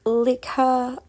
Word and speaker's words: Likha: Leica is actually a Filipino word actually pronounced like her, but I like her.